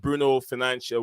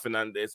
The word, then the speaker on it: Bruno Fernandes: Yeah, guys, if you don't know the right pronunciation of his name, it is Bruno Fernandes.